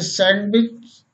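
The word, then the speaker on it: sandwich: इन सभी शब्दों में जी से पहले डी आई है जो हमेशा साइलेंट रहती है। कुछ और शब्द देखें, जैसे सैंडविच, वेडनेसडे, बैज मीन्स पदक, हैंकरचीफ मीन्स रुमाल, हैंडसम मीन्स सुंदर।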